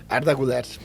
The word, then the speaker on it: Arda Güler: O jogador Arda Güler, assim que pronuncia? Arda Güler.